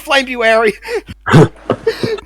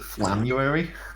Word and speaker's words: Flamebuary: I'm calling it Flamebuary. I always like to believe that most people pronounce it Flamuary. But it's Flamebuary.